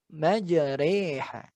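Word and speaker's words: مجراها: jadi cara membacanya yaitu dengan mengganti bacaan rok menjadi reager agak ditekan dan disamarkan sehingga terdengar seolah dibaca Manager eh ya bacanya majreha ya seolah artinya harus hati-hati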